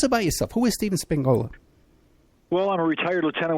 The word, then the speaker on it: Spingola: And I'm pronouncing it correctly, right? Spingola? That's correct, sir.